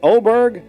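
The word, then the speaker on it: Åberg: And how do you say is it Oberg? Yep.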